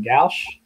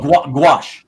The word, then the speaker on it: gouache: I think it's uh if I pronounce it right Gauss well gouache gouache gouache yeah gouache yeah okay Oh Marcus